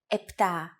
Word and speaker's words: επτά: Sometimes, though, especially in casual conversation, Greeks also use efta instead of epta, ochto instead of okto, and enea instead of enea.